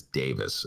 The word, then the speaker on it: Davies: him credit uh that i was mispronouncing ray davies name ray davies uh the leader of the kinks and that his real pronunciation is davis and all these years have been calling him babies and so i've been